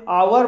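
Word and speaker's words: hour: आवर, आवर mean आवर में भी H silent है इसलिए इसे आवर बोला जाएगा और आवर मीन्स होता है घंटा।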